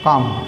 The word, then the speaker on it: calm: टेम भी होता है, टेम और काम, CALM, L साइलेंट रहता है, काम बोलता है ये।